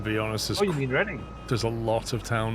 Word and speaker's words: Reading: To be honest, Oh, you mean Reading? there's a lot of town names in England that are just nonsense pronunciation compared to how Oh, yeah, they're I actually only spelled.